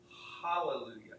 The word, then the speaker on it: hallelujah: So it should actually be hallelujah. You get that breath sound, ha.